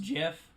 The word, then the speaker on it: GIF: not game relate is gif and jiff the creator says it's supposed to be pronounced jiff but graphically but everyone